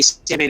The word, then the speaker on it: Samhain: the first hump that you can't see to the right is actually November 1st, and that's Samhain or Samhain. We say Samhain, it's Samhain.